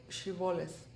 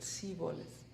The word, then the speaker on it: Shibboleth: were crossing the river, they would request to pronounce the word Shibboleth. They could not pronounce it like that, and they pronounced it Siboleth.